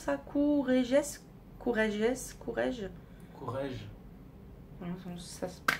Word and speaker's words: Courrèges: Comment tu prononces ça? Courrèges.